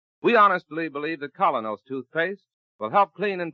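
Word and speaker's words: Kolynos: So start each day the Colinos way and let Colinos toothpaste help you keep smiling.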